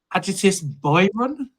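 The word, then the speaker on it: Ágætis byrjun: yeah so Icelandic post Rock again quite slow eal I'm just going keep say the word eal said that to me time I don't know how you pronounce it like adst byon the what I'll take that yeah that's that's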